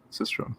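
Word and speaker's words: sistrum: it's a shaker okay what's this system is how you pronounce it system okay the subjects coming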